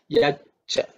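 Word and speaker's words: यच्च: Through sandhi, it becomes yat cha. Okay, the it becomes ich. So you pronounce it as yaccha.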